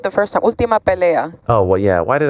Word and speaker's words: Ultima Pelea: By the way, am I pronouncing that correctly, Andy? You had it right the first time. Ultima Pelea.